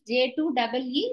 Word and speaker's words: J2EE: Please note down J2E, J2EE, but we will pronounce it as J2E.